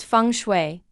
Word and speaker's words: feng shui: before but what does it really mean funu pronounced funu is an ancient Chinese discipline focused on how